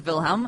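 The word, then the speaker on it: Wilhelm: who Kaiser vilhelm was so K yeah Kaiser vilhelm as you correctly pronounce it Kaiser vilhelm thei uh was Kaiser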